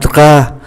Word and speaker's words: drap: Kế tiếp là ký tự P đứng ở cuối từ cũng không phát âm, un drap, chúng ta thấy không còn ký tự P nữa, drap là khăn trải giường.